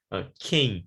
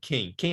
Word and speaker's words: quem: Or in Portuguese, quem, Q-U-E-M, quem é você? We pronounce it quem. We don't say cam, right? But here, the first word, we need to pronounce it cam.